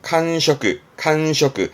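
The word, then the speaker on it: 閑職: 직업의 직, 발음은 칸셔크, 한직이다. 그러니까 한가한 직책을 말하는, 별로 좋은 뜻은 아닙니다만 칸셔크 씁니다.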